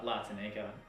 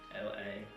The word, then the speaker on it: La Tanika: La Tanika, LATANIKA. La Tanika. I think that's I don't blame people for mispronouncing it, to be honest.